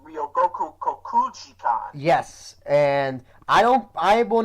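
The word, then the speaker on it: 両国国技館: It's actually pronounced Ryogoku Kokugikan.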